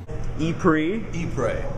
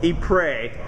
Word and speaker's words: Ypres: deep ray and that really is how is pronounced ce3 he pray he pray that is an email praising pretty god but